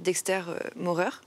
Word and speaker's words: Dexter Maurer: Sur ce projet, tu as fait appel à un graphiste, à un artiste qui s'appelle Dexter Maurer. C'est ça? Je l'ai bien prononcé? Ouais, exact.